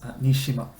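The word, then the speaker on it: Neesima: his name written uh nijima so his his preferred pronunciation of his name was nishima but when you see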